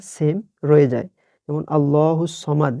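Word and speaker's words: اللَّهُ الصَّمَدُ: যেমন আল্লাহুস সমাদ, এখানে ভুলেও সামাদ বলা যাবে না।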